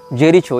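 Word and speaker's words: Jericho: आई सी एच ओ जेरीचो या जेरिको जहां तक जेरिको होना चाहिए उच्चारण यह फलस्तीन का प्रांत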